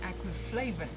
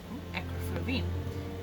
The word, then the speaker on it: acriflavine: are going to discuss aquaflavon acroflavine that's the two ways i heard it's pronounced so today we're just